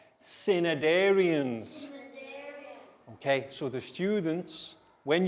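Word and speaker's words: Cnidarians: i d a r i a n s cinedarians okay so the students when you get this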